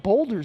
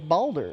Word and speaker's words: Baldur: I know you're gonna play Baldur's Gate 3 yeah, I gotta. Why I do you want to. say it that way? because that's all he talks about. No, boulders. It's Baldur.